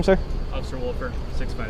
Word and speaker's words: Wolfer: Officer Wolfer, 65. Wilford? Wolfer. Wolford? How do you spell that?